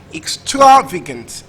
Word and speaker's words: extravagance: so the world is actually stressed on the second syllable in the word is pronounced extravagance extravagant extravagance trust option